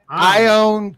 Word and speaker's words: ion: ion give ion i what is ion yes i don't give a that's pronounced i own give a [ __